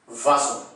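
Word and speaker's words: oiseau: हैं प्रोनाउंस क्या करेंगे, ओ आई का कॉम्बिनेशन आपको याद होगा हमेशा वा की साउंड देता है, वा एस ज की साउंड देगा और ई ए यू मिलके ओ की साउंड देता है, तो ओ आई एस ई ए यू को हम क्या प्रोनाउंस करेंगे, एग्जैक्टली वाजो, वाजो, वाजो का मतलब है बर्ड।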